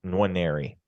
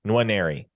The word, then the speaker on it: Nwaneri: So yes, Nwaneri. You don't you don't super emphasize the first N, but you also don't ignore it. Nwaneri.